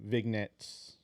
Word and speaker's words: vignettes: The way I promote a lot of our music, I get ideas from like the vignettes. I think am I pronouncing it right?